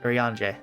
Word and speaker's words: Urianger: How do you pronounce this? Urianger? Urianger. Urianger, thank you.